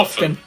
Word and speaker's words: often: Yeah, Как произносится это слово? Often.